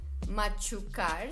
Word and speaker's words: machucar: y nuestra siguiente palabra la palabra machucar machucar se escribe con c h un sonido fuerte machuca bueno el significado